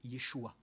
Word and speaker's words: Yeshua: Donc, même Frère Franck le dira, nous ne devrions même pas dire Jésus, nous devrions dire Yeshua. Mais il a dit après, chacun le prononcera dans sa langue maternelle.